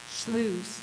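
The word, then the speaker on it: sloughs: the locations of these I don't even know if I'm pronouncing it correctly SLA s l o u g HS what is is it sloes okay may become important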